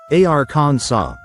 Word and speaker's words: Arkansas: In French that final s is silent. So they pronounced the word something like arans saw.